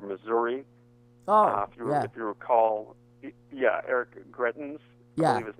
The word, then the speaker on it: Greitens: If you recall, Eric Greitens, I believe his name is pronounced, who is actually under 2 felony indictments currently.